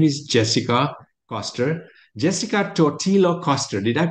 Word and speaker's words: Jessica Totillo Coster: Jessica Totillo Coster. Did I pronounce it okay, Jessica?